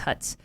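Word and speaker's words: Hütz: It's like an H and then a U with an umlaut and then a T and Z. So I think it's Hutz.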